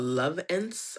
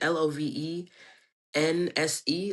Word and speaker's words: Lovense: Okay, so I love love love love love this brand called Lovense. I think that's how you pronounce it, l o v e n s e, Lovense.